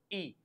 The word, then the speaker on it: y: The meaning of y is and the pronunciation is e.